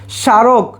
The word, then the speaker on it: স্মারক: স্মারক, স্মারকে দেখো ছয়ের মতো উচ্চারণ হচ্ছে না, ছয়ের মতো উচ্চারণ যদি না হয় তাহলে সেখানে আমরা দিব হচ্ছে তালব্য স, সা স্মারক হয়েছে।